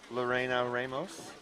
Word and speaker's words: Lorena Ramos: By the way, this is Miss Lorena Ramos. Yep. Did I pronounce that correctly? Yep.